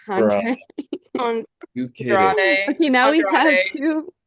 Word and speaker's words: Andrade: The Mark Davis and Andre El Idolo. Andrade El Andre El Idolo. I know Idolo, bro. Andre. On You kidding? Andrade.